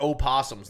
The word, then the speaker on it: opossum: it still pronounced opossum the oh is silent but what we know